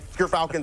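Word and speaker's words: Gyrfalcon's: We actually, off screen, we're figuring out how it's pronounced. But Gerfalcons, everyone, so anyone who mispronounces it, that's how you say it.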